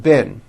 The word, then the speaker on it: been: with a double e is pronounced with a low e sound bin like in the word hit okay even though it's